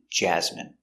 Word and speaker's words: jasmine: Remember, it's countable, a famine, and jasmine. So all of these words are pronounced with the in sound for the ine.